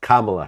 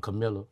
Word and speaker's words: Kamala: in the comments i think it's pronounced kamala harris i call it camilla camilla yeah you just gonna run